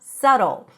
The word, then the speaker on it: subtle: the pronunciation is not subtle. There is no B, and the T sounds like a very short D. Listen, sa, like sun, sa, and then we have do.